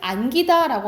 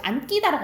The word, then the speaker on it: 안기다: 그런데 다만 별표 피동이나 사동의 기는 된 소리가 되지. 안아요. 우리가 이게 봐봐. 꽃 꽃을 안기다라고 하지. 안끼다라고 안 하잖아.